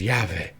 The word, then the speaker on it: Yahweh: The V is not a hard V, right? It is Yahweh. It is a soft sound. It is a continuous breath.